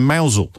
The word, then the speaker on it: Mousehole: Talia is in Mousehole in Cornwall, which I think I just pronounced correctly.